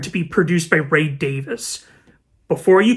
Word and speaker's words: Davies: be produced by Ray Davis before you correct me in the comments below it is Davis not Davies beat you two at